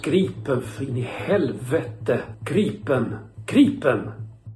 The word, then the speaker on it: Gripen: No joke it's pronounced Gripen in the helvete.